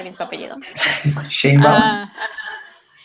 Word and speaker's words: Sheinbaum: La otra vez estaba escuchando fue al Colegio de México Claudia Shasha, no puedo pronunciar bien su apellido. Sheinbaum.